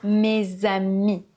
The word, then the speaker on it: mes amis: Oui, on dit bien "mes amis". Le "s" de "mes" se transforme en son "z" puisqu'il y a une voyelle, le "a", derrière. Donc ça donne "mes amis", pas "mes amis".